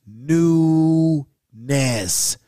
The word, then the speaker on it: Nunez: hell yes and uh nunez is pronounced new ness interesting we got pro